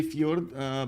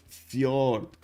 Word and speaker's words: fjord: But when you say fjord, pronounce the O as in cool. The fjord. Oh, I see. And the D is silent.